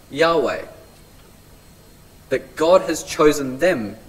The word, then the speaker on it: Yahweh: Witnesses of Jehovah or as the name of God should be pronounced Yahweh that God has chosen